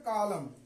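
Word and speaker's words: column: दूसरे अक्षर को देखिए कॉलम क्या पढ़ेंगे सेे कॉलम तो ये एन पढ़ा नहीं जाएगा इसलिए कि एम के बाद आ रहा है अब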